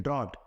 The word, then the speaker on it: draught: है, उसको बोलते हैं ड्रॉट। क्या बोलते हैं? ड्रॉट। देखिए, उसकी स्पेलिंग में लिखता हूँ। कभी कभी होमोफोन से पूछ लिया जाता है, तो DRAUGHT। इसको क्या पढ़ते हैं? इसको हम पढ़ते हैं ड्रॉट।